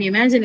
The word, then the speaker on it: imagine: But in imagine, it's in the second syllable for some odd reason.